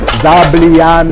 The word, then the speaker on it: zabaglione: Now, did I pronounce that? How do I say that? Zabaglione.